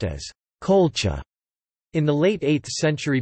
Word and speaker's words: Qulḫa: The name Colchis is thought to have derived from the Urartian Kula, pronounced as Colcha.